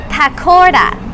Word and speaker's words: pakora: then we got the pakora so you have to pronounce the r with a d right and it is a